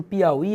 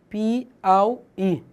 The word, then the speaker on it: Piauí: O que acontece em Piauí é o seguinte. Observe que Piauí, a sílaba tônica é esse I aqui. Só que esse U aqui é uma semivogal. Semivogal separada de vogal é um falso hiato.